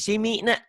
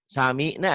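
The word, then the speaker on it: سَمِعْنَا: Simi barisnya bukan di bawah tapi di atas. Kalau samina bukan simina ya.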